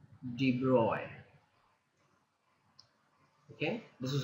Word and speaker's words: de Broglie: as something like de Broglie but but it's pronounced D boy okay this is how just d-boy this how